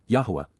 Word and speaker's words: Yahowah: over whom he scoffs C imp perfect Yahweh yahwah the proper pronunciation of the name of eloah God as